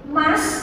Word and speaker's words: must: Kalau mas, tulisannya mus ya, bacanya mas harus kudu ya.